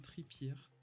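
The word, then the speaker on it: Trippier: donc là c'était Karan tripierre tripier ou tripier ça dépend si on le prononce à la française mais qui était euh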